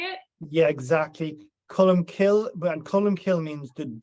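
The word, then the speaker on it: Colm Cille: Cullum kill and cullum kill means the the cullum is a dove and kill is either the wood or the church.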